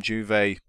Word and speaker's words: Juve: Coming in from Juve, sorry, no J pronounce it's Y.